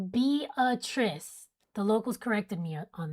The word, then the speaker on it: Beatrice: It's pronounced Beatrice.